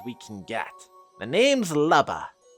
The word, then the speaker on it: Lubba: The name's Lubba. Now, I pronounced it Lubba, but it could be Luba, or because Luma. Unless it's actually supposed to be. Anyways, I will be pronouncing it Lubba. L-U-B-B-A.